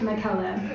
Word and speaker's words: Michaela: It's pronounced Michaela. It rhymes with Nutella.